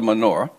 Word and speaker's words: Menorah: or know of the menorah? Yep. So in Hebrew, it's pronounced Menorah. We have a tendency to take Hebrew words into English and, I don't know, they don't sound as pleasant.